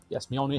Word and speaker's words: Mjolnir: Yes, Mjolnir has a J in it. It's pronounced with a Y, but it's a J.